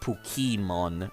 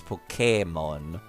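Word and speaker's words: Pokémon: Pokemon yeah it's uh the accent is uh to specify that it's not Pokemon it's Pokemon because of the way it's pronounced in Japanese honestly nobody types it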